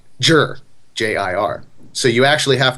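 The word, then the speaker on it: zhi: i which is pronounced jur j-i-r so you actually have to be reading it as you're going and going okay Z is not Z it's Jer and you're reading it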